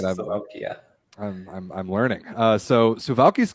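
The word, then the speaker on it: Suwałki: pronunciation right? Yes, All right. Suwalki, yeah.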